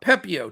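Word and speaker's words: Pepiot: Pepio. Yeah, that's what I thought. Pepio, 10.3K.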